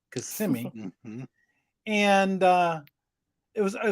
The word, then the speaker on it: Kissimmee: small interconnect company in Kissimmee Florida notice I pronounced it correctly Kissimmee and uh it was it was owned by